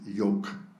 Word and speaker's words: Yoke: has kindly explained that her nickname is Yoke, which rhymes with Coke.